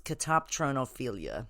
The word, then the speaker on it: catoptronophilia: It's a pretty interesting one called catoptronophilia, right? And it's spelled Katoptronophilia. So it's catoptronophilia, right?